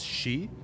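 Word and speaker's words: 四: uh the pronunciation or the number four in Japanese can be pronounced as she uh which is also the root for the word death so because of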